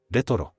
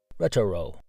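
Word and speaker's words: レトロ: Retoro. Now you know how to say retro in Japanese. Retoro.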